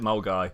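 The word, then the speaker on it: Milngavie: i have no idea how someone looks at the name milgraf and decide to pronounce it mole guy but that's just scotland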